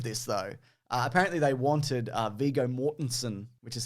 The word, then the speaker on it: Viggo Mortensen: But the ending of this, though, apparently they wanted Viggo Mortensen, which is how you pronounce his name, Mason.